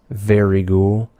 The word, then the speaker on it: Vryghoul: It's pronounced very ghoul. Don't let anyone tell you different.